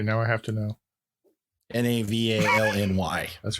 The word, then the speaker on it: Navalny: it phonetically, by the way. Okay, now I have to know. Navalny.